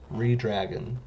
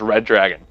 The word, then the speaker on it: Redragon: Redragon. Redragon. My dumbass always thought it was Red Dragon. It's like, where do you see a second D in there, dumbass?